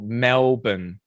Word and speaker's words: Melbourne: say that Americans always say Melbourne We because of do. the spelling, We but do. it's a schwa sound on that second syllable. Melbourne.